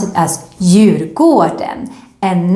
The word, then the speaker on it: Djurgården: But remember, when you go to this island, you need to pronounce it as Djurgården and not Djurgården. No, because the D is silent, Djurgården, and it actually means the garden of the animals.